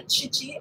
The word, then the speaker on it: Khichi: Some people think that it is Khichi, but it's really Khichi.